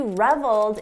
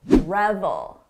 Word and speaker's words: revel: just an important note don't confuse the pronunciation with the very common word reveal we're talking about revel revel reveal Rebel notice the difference in the vowel sound this is a short sound oh Rebel long sound reveal he reveled in